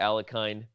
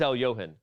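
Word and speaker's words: Alekhine: the other things surrounding the alakin as he's often pronounced but it is Al Yohan if you didn't know that here is chess of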